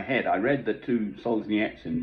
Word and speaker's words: Solzhenitsyn: i read the two solzhenitsyn books that's the proper way to pronounce his name apparently he solves the nits in books which came out